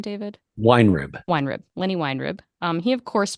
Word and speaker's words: Weinrib: Weinrib.